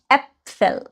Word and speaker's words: Äpfel: Apfel, Apfel অনেকগুলো যদি হতো আমি বলতাম Äpfel, আ, এ।